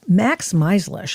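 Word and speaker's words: Max Meizlish: Now very sleepy sleepy uh May 19th and I go to Max Melish. I hope I'm pronouncing your name properly with the Foundation for the Defense of Democracies and did I pronounce it correctly?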